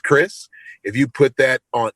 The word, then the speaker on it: Krizz: if you just put k r i ZZ which is pronounced Chris if you put that